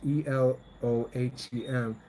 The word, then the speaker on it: Elohim: Okay, so now you see that the word Elohim, pronounced Elohim, which is plural in a form, it, it emphasizes monotheism rather than suggesting polytheism.